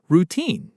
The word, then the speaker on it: routine: People sometimes stress the wrong syllable. They say routine with the emphasis on the first part, but it's actually routine. The stress is on the second syllable. Routine.